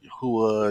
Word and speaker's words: Yahweh: It's actually YHWH, and I mean if you want to say it like that, right? Yeah, I don't always say it the right way. It's Yahuwah, Y- Yahweh. yeah, Yahweh, well, Yahuwah, Yahweh, Yahweh. You can say Yahweh, Yahweh.